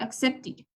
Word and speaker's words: accepted: Aquí se pronuncia id, accepted.